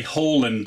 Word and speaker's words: Haaland: for red bull leipzig i should say hall and uh as his correct pronunciation in norwegian apologies guys if i